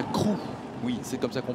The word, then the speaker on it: Crewe: Et après, on déménage à Crewe. Oui. C'est comme ça qu'on prononce?